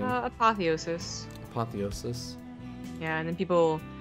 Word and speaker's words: apotheosis: as the yellow tan he is Keen so apotheosis yeah apothesis how do you say how do you say the map name uh apotheosis apotheosis yeah and then people so yeah there's